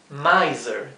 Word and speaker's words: miser: Miser, tacaño. El mismo ejemplo de la S entre medio de dos vocales. Miser, z, z, miser.